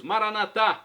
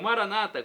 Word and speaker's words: Maranatá: E agora eu clamo do aramaico dialeto de Jesus, Maranatá, como dizemos nós católicos, com a tônica na última sílaba, ou Maranata, como dizem nossos irmãos separados, os evangélicos ou protestantes.